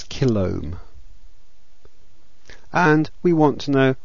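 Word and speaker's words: kilohm: a 47 Kil resistor kiloohm is usually pronounced as Kil and we want to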